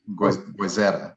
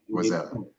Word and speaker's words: Goizueta: Business school at Emory School, and I think I'm saying Goizueta. Am I saying it right? Goizueta. Yep, Goizueta. Yeah.